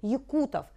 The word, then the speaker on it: якутов: именно на эту букву правильно стоит ударение в этом слове якутов ударение падает на букву у а четвертое правило когда